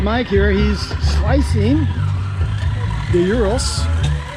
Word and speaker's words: gyro: He's slicing the gyros. How do you pronounce that? Gyros? Gyro, yeah. Gyro. Pronounce it gyros, right?